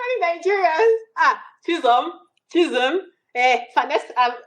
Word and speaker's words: Chisom: Oh, it's Chisom, and I just spell it out for you immediately. You know, I'm like Yeah, Chisom, Chison.